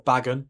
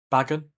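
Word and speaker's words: Bagan: Here's Banan or Bagen, however you say however you say his name. Yeah, it's Bag and then a N. Yeah, B A G A N. Bagen.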